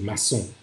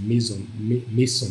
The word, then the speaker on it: Mason: c'est Sœur Mason, si on prononce à l'anglaise, maçon, si on dirait maçon, si on dirait en français, mais les Anglais disent Mason, je suppose.